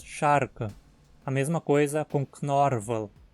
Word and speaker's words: Scharke: Não dizemos shaka, mas sharka.